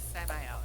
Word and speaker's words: Samael: It is Samael, yes. You're correct.